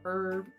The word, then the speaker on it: herb: pronounce it that way herb yeah that's like that's the normal that is the quote unquote normal way to pronounce herbs it's the H is silent I've never heard it